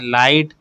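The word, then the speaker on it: light: यहां पर आपको कौन से लेटर साइलेंट मिल रहे हैं? लाइट बोल कर देखिए। लाइट। ठीक है? टाइट taught. तो यहां पर आपको जी और एच जो है वो साइलेंट लेटर्स की तरह सुनाई दे रहे हैं।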